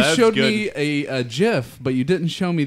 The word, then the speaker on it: GIF: said GIF. That is the proper pronunciation.